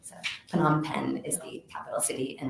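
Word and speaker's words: Phnom Penh: me a while to learn if this correctly PanAm pen is the capital city and that's where the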